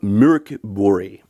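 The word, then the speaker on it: Mörk Borg: At number 16, another Free League game, Mork Borg. That, according to my Swedish friends, is how the game is actually pronounced.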